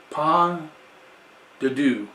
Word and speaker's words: pas de deux: Kukkula Wines Pas de Deux, which we'll go to the back. Once again, he puts quite a bit. Pas de Deux. Pas de Deux.